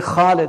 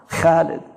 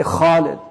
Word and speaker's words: Khalid: You know, like say Khalid because don't say it like the Arabs say it now. Khalid. Say Khalid because it's harf mufakhama.